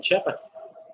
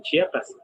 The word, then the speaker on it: Chiapas: Inclusive en la pronunciación, muchos dicen Chiapas, no dicen Chiapas, pero sí saben decir Houston.